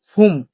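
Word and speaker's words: 봄: আছে বিয় বিয় যদি শব্দের শুরুতে থাকে তাহলে উচ্চারণ ফ তাহলে কি উচ্চারণ হবে ফ যেমন কি আছে ফুম এ ফুম মানে হচ্ছে বসন্ত ফুম মানে কি বসন্ত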